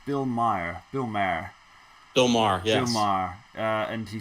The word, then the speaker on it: Maher: The interview with former Trump campaign chief Steve Bannon on, I believe it's pronounced Bill Maher, yes.